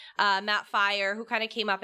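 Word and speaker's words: Firor: Studio director Matt Fior uh fire I always pronounce it wrong uh Matt fire who kind of came up and just talked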